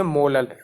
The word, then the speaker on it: molal: यहाँ पे हम सिंबल यूज़ कर रहे हैं स्मॉल m का, और हम प्रोनाउंस क्या करेंगे? मोलल.